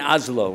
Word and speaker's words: Oslo: Here we are, we're in Oslo, right? Oslo, that how you say it? Oslo or Oslo? Oslo. Oslo. Yeah. Not too slow, just Oslo. Oslo?